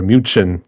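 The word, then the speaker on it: München: I would have said Munich or muin how you pronounce it in deuts so yes is a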